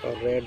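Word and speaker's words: read: আওয়ার হেড teacher first রেড আউট the annual report. রিডের past tense হলো রেড, বানানটা ঠিক থাকে, উচ্চারণ একটু আলাদা হয়।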